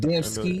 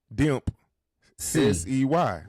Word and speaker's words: Dempsey: Okay, I'm gonna spell it out, y'all. DEMP. Demp. SEY. Yeah, it's got to be Dempsey. Okay, here we go.